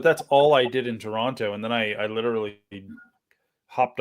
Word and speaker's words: Toronto: because like we're like Toronto. Like we don't say it like we say it with no T at the end. Take the T out, Toronto.